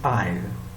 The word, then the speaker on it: isle: A-I-S-L-E is aisle. I-S-L-E is also aisle. Pronounced the same, but meanings are different.